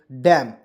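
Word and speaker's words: damn: से होता है म अब मैंने बताया कि आपको जब भी एम ए साथ में रहेगा तो ए को हम लोग साइलेंट कर देंगे तो क्या पढ़ेंगे डैम और डैम मीस क्या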